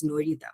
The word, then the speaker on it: Nairita: So, my sort of revenge sort of is an epistemic revenge to sort of reclaim my name and pronounce that as Norita, which is very close to my mother tongue in Bengali.